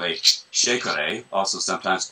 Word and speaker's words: shekere: This is an instrument, contemporary version of a traditional West African instrument called a shekere, also sometimes pronounced chekere, sekere, chekore.